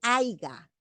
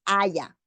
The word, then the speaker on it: haya: Una que utilizamos constantemente es el aiga. Aiga es incorrecto. La forma correcta es haya.